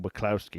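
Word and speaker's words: Wacławski: If you want some inside information as well, the reason that I'm pronouncing the name Waclawski is because I asked Owen Binks how to pronounce it.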